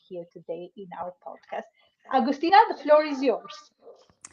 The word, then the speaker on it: Augustina: Today in our session in this live we have another special guest nonetheless Augustina Augustina am I pronouncing it right?